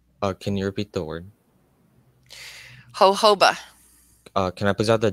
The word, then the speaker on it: jojoba: Jojoba.